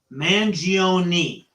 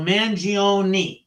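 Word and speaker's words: Mangione: I want to clear up is how you pronounce his last name mangioni now everyone wants to say mangion I that's the first thing because someone's name is so important to them so manoni is how his lawyer pronounced it okay and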